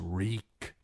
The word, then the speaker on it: Reek: My name is Reek. It rhymes with cheek."